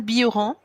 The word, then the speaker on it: Bilheran: Dis-moi, quand je parle de toi, je dis Bioran. Et est-ce que je prononce bien ton nom? Oui, le LH se dit Yeux en occitan. C'est un nom occitan.